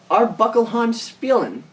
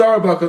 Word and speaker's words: Arbuckle Spielen: pronounce this wrong, Bob, Arbuckle Spielen. Actually, it's just Arbuckle. The Spielen is silent.